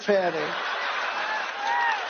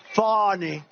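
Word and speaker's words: Fani: F it's spelled Fanny it's spelled Fanny like your ass right Fanny but when she became da she decided to add a little French a little Fancy funny funny and yeah he's a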